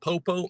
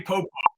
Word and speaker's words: Popo: What other way can you say Popo? Popo? There is no other pronunciation. Maybe he says Popo. P-O-P-O. That's Popo to me.